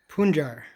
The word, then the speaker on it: Punjar: It's pronounced Punjar, right? Punjar, Not Punjar.